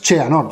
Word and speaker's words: Xehanort: Perdona, me han dicho cómo pronunciarlo. Cheanord, ¿no? Es Cheanord, simplemente.